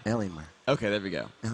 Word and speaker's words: Alienware: guys all the way to the Finish L Alienware Alienware okay there we Goen pronunciation helps indeed there's an r in there